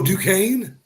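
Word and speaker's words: Duquesne: who I don't know how to pronounce it du DNE DNE or something oh du Kane is that how you say that Duan is it yeah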